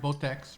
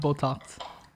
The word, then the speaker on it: Botex: how to can you oh his name is patrick botex right not botox no and he's from